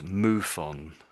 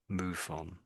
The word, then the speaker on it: MUFON: But, I have heard this pronounced as Moofon. Moofon. That's how people pronounce it. They say this as if it was a word.